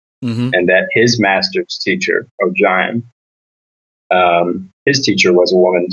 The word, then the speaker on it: Ogion: So in the audiobooks, it's pronounced O'Jaim, because in my head, it's always been Ogion.